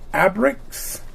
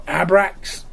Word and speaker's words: Abrax: Here is the beast that Gilius Thunderhead comes with, and this is the Abrax or Abrax. That's how you pronounce it.